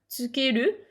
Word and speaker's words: つける: se prononcent de la même manière, ils se prononcent tous tsukeru et ils peuvent être écrits en hiragana, c'est OK.